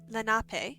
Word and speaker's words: Lenape: nape tribe you know land back yeah oh lenape okay so i did pronounce it right that's good hey so let's